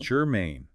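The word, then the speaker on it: germane: You could say that the first one is gerine. G e r m a i n e. Gerine, two syllables, stress on the second.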